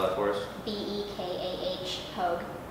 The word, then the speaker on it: Pogue: Bekah Pogue, rhymes with Vogue.